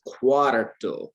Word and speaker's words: cuatro: four cuatro this is cuatro you're putting the r on the wrong side that's why i'm like